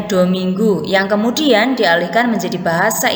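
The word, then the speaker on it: domingo: yang menyebutkan Hai dominggu tertulis dominggo bacanya dominggu yang kemudian dialihkan menjadi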